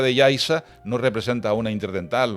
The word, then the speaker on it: Yaiza: Cuando vean un canarismo que se escribe con Z, que lo pronuncien con S, porque esa Z ahí, la Z de Yaiza no representa una interdental, o la Z de Tazacorte, son palabras canarias, de origen prehispánico, ¿no?